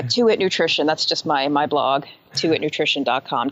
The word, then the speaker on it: Tuit Nutrition: How do you pronounce this? Tuit Nutrition? Oh, yeah, Tuit Nutrition.